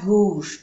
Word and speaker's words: gauche: Est à gauche de, gauche, A-U-O, gauche. La CH se pronuncia sh, gauche. No se pronuncia la E, pues sí se dice a la gauche, pero mejor no pronunciarla.